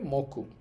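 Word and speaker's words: 目: এইভাবে আপনি পুরো তিনটা অর্থ একটা বাক্য আকারে মনে রাখতে পারেন।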